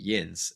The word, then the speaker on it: yinz: no, yeah, it's spelled Yinz. Yins is what they say.